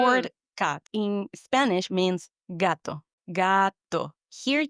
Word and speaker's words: gato: word cat in Spanish means gato. Gato. Here, the G is always pronounced like a hard G, like the word, for example, go in English.